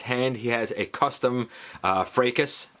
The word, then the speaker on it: Fracas: he has a custom freitas already put there a fracas if you prefer that pronunciation and you may notice